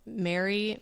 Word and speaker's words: Mary: Okay, so now I have how do you pronounce the words Mary, Mary, and Mary? They all sound the same.